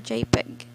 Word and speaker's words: JPG: first is jpg or jpeg it does not work well on lettering line drawings or simple graphics jpg are relatively small in file size and supports 16 million colors it is pronounced as jpeg is it the short